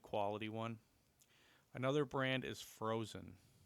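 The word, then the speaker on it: Phrozen: a very good quality one another brand is frozen it's spelled p-h-r-o-z-e-n and that is another good company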